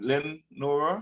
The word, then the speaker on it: Lenore: pronunciation for your name Len Nora Lenore l e n o r e French writers yes all right how